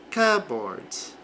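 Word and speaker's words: cupboard: Este P aqui ele desaparece na pronúncia cboard, é no armário aí da cozinha.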